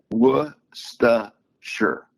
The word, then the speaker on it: Worcestershire: Here it's Worcestershire. Worcestershire. That's how you say it. So there's not even a C in it. No, it's WUSTUH, right? WUSTUHSHR.